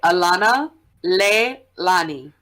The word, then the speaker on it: Alanaleilani: How is it actually pronounced? You got the first part right, Alanaleilani.